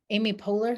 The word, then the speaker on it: Amy Poehler: i hope so okay this one is for amy poehler do you know who she yes did i